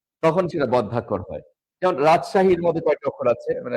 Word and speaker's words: রাজশাহী: যেমন রাজশাহীর মধ্যে কয়টি অক্ষর আছে? আমরা একটু দেখি। রাজশাহী, রাজশাহীর মধ্যে কয়টি অক্ষর আছে? রাজ, সা, হি ৩ টা অক্ষর আছে।